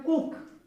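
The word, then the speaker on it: cook: में आ रहा है, सी से क, और उसके बाद डबल ओ का उच्चारण क्या है, छोटी ऊ, और उसके बाद क, कुक।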